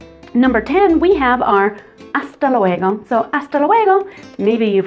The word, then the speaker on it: hasta luego: I prefer hasta luego, hasta luego, hasta luego. Again, that H is silent until later, but in other words, see you later, hasta luego.